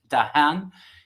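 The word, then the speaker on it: Dehaene: here dr stan lisa i think it's pronounced dahan he's from france he's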